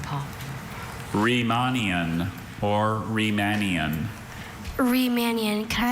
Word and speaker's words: Riemannian: Riemannian or Riemannian.